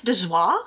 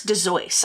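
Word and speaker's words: Dozois: Chris and so that Chris De zoir or Chris De zoys I found two pronunciations for that last name it was d-o-z-o-i-s but yeah he was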